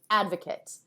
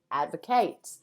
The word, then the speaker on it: advocate: Okay, now that we know who the devil is, let's look at the other word, advocate. Sometimes this is pronounced advocate. Now, as a noun, it is advocate.